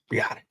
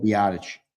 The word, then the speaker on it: Rapp: Taylor Rapp or however you say his name Rapp. Yeah, Rapp.